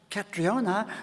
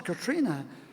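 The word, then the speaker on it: Catriona: not Sten it's stra or if your name is katriona no it's not it's Katrina or if your name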